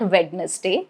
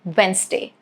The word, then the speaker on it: Wednesday: Okay, for letter N, I've got examples like Wednesday. So yes, it is not Wednesday, it is Wednesday.